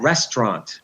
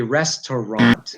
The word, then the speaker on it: restaurant: And some other words like that, restaurant, 2 syllables, but really it should be restaurant.